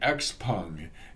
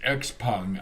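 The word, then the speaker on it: XPeng: other hand she's buying x-pung and it is pronounced x-pung i'm told at least that's the way they say it in china and so i'm going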